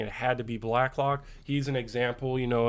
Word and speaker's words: Blacklock: forgive me last week I was pronouncing his name Blaylock like every time and and it was spelled correctly black lock on my screen I mispronounce it like every time I said it so forgive me there